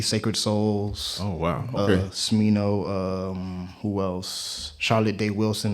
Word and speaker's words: Smino: Is it Smino? No, it's Smino.